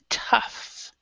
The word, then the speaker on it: tough: has a different pronunciation this one is like an F but not all of